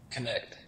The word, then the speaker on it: Knecht: by the way how do how do you pronounce your last name connect it is it is connect so okay we were all talking about it